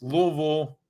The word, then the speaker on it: Louisville: to say it uh you do two syllables Louisville is is how you do it if you're trying to